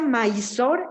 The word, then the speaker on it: Mysore: ¿Y se pronuncia Mysore, M-A-I-Z-O-R, Palacio de Mysore? La ciudad se llama Mysore, es la ciudad M-Y-S-O-R-E, Mysore.